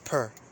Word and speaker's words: per: pronunciation in english that's why it says it's pronounced per p-e-r see that right there p-r it says